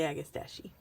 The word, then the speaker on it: agastache: These are agastache, or however you guys want to pronounce it. I like to say agastache.